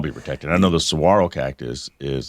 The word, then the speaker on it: saguaro: Well, it says you can even go to prison for a year if you're caught cutting down the endangered saguaro cactus. Yeah, that's a saguaro cactus, spelled really weird.